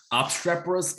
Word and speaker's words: obstreperous: today is uh obstraperous okay how do you pronounce it ob strappers obstreperous is ob s t r e p e